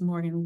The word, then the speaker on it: Morgan: I always joke and say my name is Morgan rhymes with organ organ Morgan you can't forget my